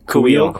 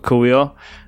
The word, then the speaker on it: Kuiil: Kuiil. Kuiil.